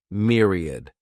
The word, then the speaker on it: myriad: This word has three syllables and the stress is on that first syllable. Mere sounds like mere. Myriad.